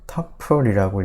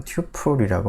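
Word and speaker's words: tuple: 그 서플하고 철자가 비슷하기 때문에 서플처럼 읽어서 터플이라고 읽기도 하고요, 경우에 따라서는 사람들이. 아니면은 이제 쿼드루플이라고 하는 이 단어와 비슷하게 튜플이라고 읽기도 합니다. 자, 그런데 뭐 프로그래밍 하는 사람들은 대부분 튜플이라고 많이 읽습니다.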